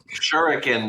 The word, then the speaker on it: shuriken: to dual lingo how do you say it shuriken bro a shuriken okay how I hear anyways